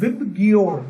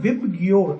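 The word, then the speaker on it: VIBGYOR: बनता है, that is विबग्योर। अगर आप इसको प्रोनाउंस करोगे तो that will be called विबग्योर। आप इसको याद रखो, सब लोग यही करते हैं, मुझे भी यही याद है, विबग्योर।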